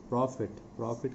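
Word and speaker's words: prophet: used to tell a प्रॉफिट का मतलब होता है पैगंबर इसका उच्चारण ध्यान देंगे प्रॉफिट तो उच्चारण से यह शब्द की तरह है प्रॉफिट और इस प्रॉफिट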